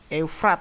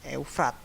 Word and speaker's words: Eufrat: Eufrat ya bacanya, Eufrat.